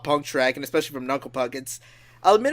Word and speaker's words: Knuckle Puck: But speaking of Jared Alonge and bands, Nuclepook. Oh, wait, sorry. Knuckle Puck. I still have that pronunciation on the brain.